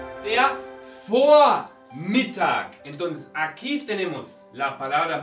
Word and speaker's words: Vormittag: La V inicial en alemán, en palabras alemanas, se pronuncia normalmente como una F. No como Vormittag, sino Vormittag, como una F.